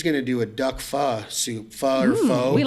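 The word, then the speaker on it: phở: I like the way you say it, pho. So I think that's the correct pronunciation.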